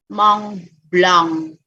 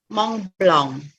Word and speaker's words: Mont Blanc: Tapi karena ada sengaunya jadi Mont Blanc. Oke. Jadi sebenarnya suaranya tetap A, tapi karena ada sengaunya, ada N-nya tadi yang menimbulkan suara sengau, jadi bacanya Mont Blanc.